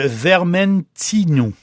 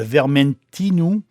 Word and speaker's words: Vermentino: est formidable en blanc le Vermentino ou Vermentino tour le U mais c'est les Corse prononce avec le U le vermentinou lui il va donner